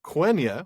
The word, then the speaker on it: Quenya: Now, it is from Quenya, which rhymes with Nenya.